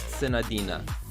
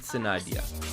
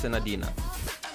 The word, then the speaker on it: Senadina: name pronounced sadina or Sadia in English is pronounced sadina in Japanese and Chinese they pronounce it Sadia but in English it's sadina do singles until I get a character okay